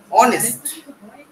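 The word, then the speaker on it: honest: মানে ঘন্টা আবার ধরো অনেস্ট এইচ হও হচ্ছে না এইচ এর উচ্চারণ হও হচ্ছে না আচ্ছা শোনো আমরা আমি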